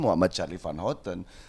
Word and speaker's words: Muhammad Charly Van Houten: Tapi kan ketika diucapkan kan Muhammad Charlie Van Houten. Ya, sekarang kan pakai Y gitu. Ya ini aja lah lebih untuk ini. Tapi kan pengucapan tetap Muhammad Charlie Van Houten tuh.